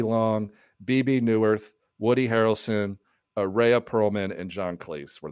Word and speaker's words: Rhea: Ray Perlman. Is that how you pronounce her name? She was the waitress. Oh, Rhea.